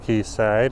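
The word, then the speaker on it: Quayside: key side Marina they do spell key for key side with a q u a y old British terminology but pronounced and very much in the same way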